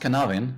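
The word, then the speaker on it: Cynefin: this uh uh this uh uh well it's pronounced canavin uh some people actually pronounce it as a sinophan but it's a matter of how you spell it.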